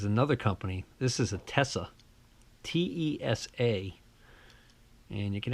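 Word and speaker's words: Tesa: it says swiss-made and this is known as a Tessa test not tes a test which by the way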